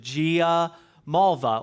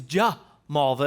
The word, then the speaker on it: Giamalva: So it's phonetic is how we pronounce it. Gia Malva or if you were Italian in the traditional Italian way, it's J Malva is how you So either one of